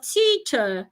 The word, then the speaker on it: teacher: The E and R at the end of teacher sounds not teacher. Teacher, remember it's a closed sound. So when you want to pronounce it, you try to make sure that your mouth is closed. Teacher, do not open your mouth.